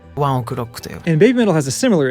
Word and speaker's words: One OK Rock: For One OK Rock, which is the way I have admittedly been pronouncing it myself, in Japan they say it something more like ワンオクロックという。